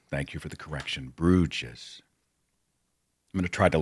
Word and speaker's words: Bruges: to London, Paris, Bruges, Amsterdam, and I'd always pronounced it Bruges. Stupid mistake. It's the kind of mistake that readers make. So thank you for the correction. Bruges.